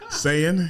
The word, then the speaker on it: Saiyan: Did I say it wrong? Saiyan.